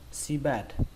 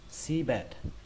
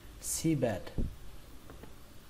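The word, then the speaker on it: seabed: Cách đọc thứ hai của từ này chúng ta không cần trọng âm nữa, chúng ta đọc ngang luôn, sea bed, sea bed.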